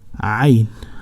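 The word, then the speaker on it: عين: Most of people has difficult in pronunciation the Ain letter. So say Ain, Ain. So it is Ain. You can imagine that a person falls down from a higher place. He will say ah, yeah, great.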